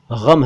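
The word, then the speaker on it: ग़म: तो देखिए, ये गम शब्द है, गम मत बोलिएगा, गम है, गम।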